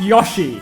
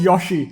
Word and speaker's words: Yoshi: Yoshi, not Yoshi. I knew that's how you pronounced it.